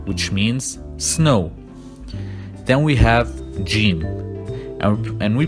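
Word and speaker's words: ح: It's like an H, but the sound comes from the deep part of your throat, just like you're trying to blow warm air on your hands when you are cold.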